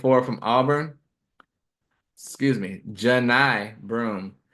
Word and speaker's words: Johni Broome: So next on my list, 34, Johnny Broome, the 6'10" forward from Auburn. Excuse me, Johni Broome. It's spelled like Johnny, but it's Johni.